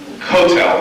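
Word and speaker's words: Kotel: between ashas and SPID is like instead of pronouncing for instance the Western Wall Hebrew is is cotel is the way we teach our kids to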